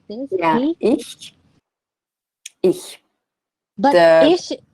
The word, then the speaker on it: Ich: the perfect form would be more flat, ich.